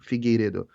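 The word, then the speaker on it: Figueiredo: Figedo. It's my last name. It's hard to to pronounce.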